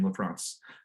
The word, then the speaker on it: LaFrance: I will give you the assessment of I think she pronounced her name LaFrance.